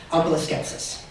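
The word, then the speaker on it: omphaloskepsis: words OS skepsis yeah could they be pronounced umalis skepsis it can it would be wrong skepsis o m p h a l k e PS i s OS skepsis that is correct nail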